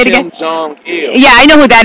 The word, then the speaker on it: Kim Jong-il: Kim Jong-il.